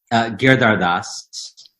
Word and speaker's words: Giridharadas: pronounce your last name GERD are dusts so you make it sound easy but it looks a little more free it looks like you would have five syllables it sounds like it has fewer I mean okay and